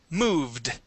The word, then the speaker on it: moved: This word would be moved with a d ending. Moved. Moved. Good. If it ends with a v, that d is a that ed is a d sound.